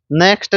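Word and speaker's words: knack: में घुस जाता है नेक्स्ट है नेक नेक नेक नेक का मतलब इसमें के साइलेंट है यह किसी काम में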